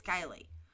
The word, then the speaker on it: Kiely: out of Placer County she said her name wrong she said Keeley but it's Kylie right so why did